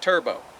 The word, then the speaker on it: 2rbo: They pronounce that turbo.